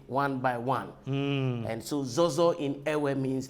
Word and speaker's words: ZOHZOH: Well, the original pronunciation of the name is ZOHZOH. ZOHZOH. And I was very surprised when I came and you actually said ZOHZOH. Somewhere around the world that I have lived, nobody has been able to pronounce it that way.